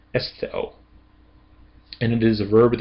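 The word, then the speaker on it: ἐσθίω: And then omega is not a part of a diphthong, so it can't go with the iota. It's going to stand on its own. So this is estheo, estheo.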